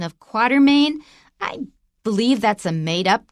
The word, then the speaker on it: Quatermain: In any case, his name is pronounced Alan Quatermain.